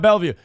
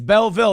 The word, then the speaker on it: Belleville: excuse me of bellw it's not bellw it's Belleville that's awesome Kurt mene